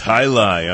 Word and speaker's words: jai alai: say it I oh yeah it's highi on the supercolor Vol X anyone feel like